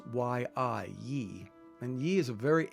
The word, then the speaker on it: Yi: concept of a Yi in Chinese characters it's pronounced why I Yi and Yi is a very ancient concept it